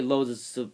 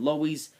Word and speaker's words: Lowe's: Lois instead of Lowe's apparently Lowe's is supposed to be how you do say it but I say it Louise because again like I